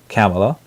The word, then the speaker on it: Kamala: on Harris keep calling Kamala Harris is the her pronoun proper pronunciation is Kamla and I'm filling her